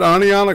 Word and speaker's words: Oneonta: the inbreeding capital of the planet you said Oneonta correctly man I was surprised that's excellent man you know it's like I yeah I heard it did one time say was we have Oneonta Alabama and he called it one on top